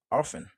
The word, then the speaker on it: often: Mais plutôt, on dit plutôt often, often, often, often, often, c'est que T a le plus souvent les silent, c'est que on va